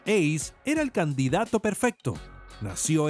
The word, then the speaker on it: AC: Este coche de nombre tan extraño que se pronuncia Ace era el candidato perfecto.